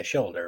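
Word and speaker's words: Sholder: directed by Jack Scher is it Sher or shoulder I think it's shoulder yeah shoulder right yeah in his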